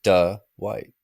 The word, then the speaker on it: Dwight: Dwight Dwight yeah yeah that's the southern pronunciation the why is there an extra syllable to pause D white D white you would